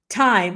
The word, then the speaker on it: thyme: in your house yeah I call it time all right time t h y m I don't know I hear some people pronouncing the th but what I do